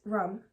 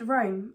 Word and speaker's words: Rome: because I pronounced Rome as rum.